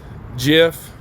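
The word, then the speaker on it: Giuffre: It says Jeff, that's how you say her name, died by suicide in April at the age of 41.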